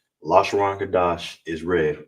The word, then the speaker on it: Lashawan: All right, and together it's la, sha, wan. All right, because the wa, you understand, and the na is together, so it's pronounced la, sha, wan.